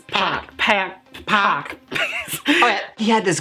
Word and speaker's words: PAC: It's Pac.